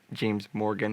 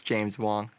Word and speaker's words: James Wong: James Wong, not James Morgan. It's James Wong.